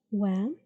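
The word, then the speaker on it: و: This is wow and it's pronounced like W. Okay. It has fatha above, so wa.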